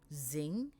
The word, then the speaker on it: zing: as ink and sorry ng is pronounced as ing and nk is pronounced